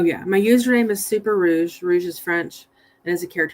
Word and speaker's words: Rouge: I was going to say, I know that it's pronounced Rouge, but we have a car. I don't have it anymore, but it's Rogue, but that's Rogue, so never mind, Rouge.